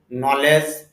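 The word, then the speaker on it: knowledge: যেমন নো জানা, নি হাঁটু, নলেজ ইত্যাদি অনেক শব্দ আছে, এন এর পূর্বে খেয়ে আছে, এই জন্য খেয়ে শুধু লেখায় আসবে, উচ্চারণে আসবে না।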